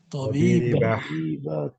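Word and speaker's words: طبيبة: They also say here tabibatun, they will say what? Tabiba. Tabiba.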